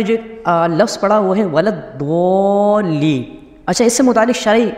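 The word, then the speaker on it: ولا الضالين: مسئلہ سماعت فرماتے ہیں۔ بعض لوگ ولدضالین کو ولدضا یعنی زواں کے ساتھ پڑھتے ہیں، ان کا ایسا کرنا حرام ہے۔ اعلیٰ حضرت امام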